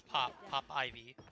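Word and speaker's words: PopIvy: I want to say Poop. I don't know why, but it's not. It's Pop Ivy.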